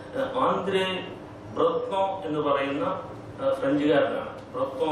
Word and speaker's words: Breton: ബ്രത്നോ ഞാൻ ഫ്രഞ്ച് ഉച്ചാരണം പറഞ്ഞെങ്കിലും എഴുതുന്ന BRETON എന്നാണ്.